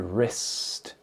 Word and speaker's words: wrist: And this is the wrist. The wrist. W R I S T. Wrist. And in this word wrist, you do not pronounce the W.